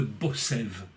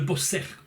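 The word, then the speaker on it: בוסר: ce qu'on appelle le Bossev. Qu'est-ce que c'est que le Bossev? Eh bien, il y a deux explications à ce... Le Bosser, pardon. Bosser. Ça s'écrit donc bête, samer, resh.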